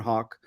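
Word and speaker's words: Haugh: Elder Hawk on Reddit spell it out with it like a bird send me a private message you can follow me on Twitter at Hawk uh on Twitter it's h-a-u-g-h not spell like the bird um I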